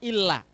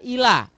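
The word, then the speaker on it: إلّا: ya ina amanu illa harus dibaca illa tidak boleh dibaca Ila tidak ada tasydidnya karena Maaf saya sering mendapati orang membaca illa itu tidak tidak ditasdidkan misalkan Wal Asri Innal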